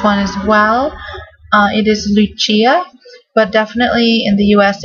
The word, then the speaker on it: Lucia: really like this one as well it is Lucia but definitely in the US it would get pronounced Lucia which is beautiful as well and it's Latin